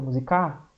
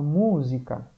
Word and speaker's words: música: Ah, professor, não é o K o mais forte? Não, ia ficar musicar. Porque ninguém fala musicar, a gente fala música.